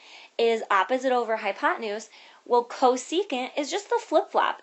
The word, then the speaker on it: cosecant: how you pronounce these this one that says CSC that stands for cosecant and this one right here